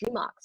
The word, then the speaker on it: RMRK: team called rmrk or it's actually pronounced as remarks what is remark remark